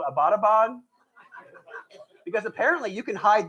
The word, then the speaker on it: Abbottabad: And she was like, yeah, and it's not pronounced Abbottabad. I was like, well, how do you say it? And she's like, it's Abbottabad.